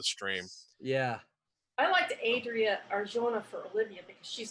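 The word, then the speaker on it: Arjona: r i a huh the last name is uh arcona thank you it's a-r-j-o-n-a yes thank you thank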